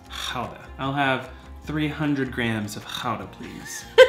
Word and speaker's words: Gouda: When you see this cheese and your friends say, "Ooh, I love Gouda cheese," you can say, no, it's pronounced Gouda.